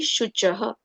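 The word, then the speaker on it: शुचः: Again, S with an apostrophe will be pronounced as Sh. And as I said, whenever we write C is not K. C here is pronounced as Ch. So it will be Shuchaha.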